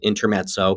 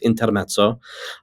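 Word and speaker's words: Intermezzo: by Sally Rooney and I'm sure that people just pronounce it intermo but it's intermo um and the book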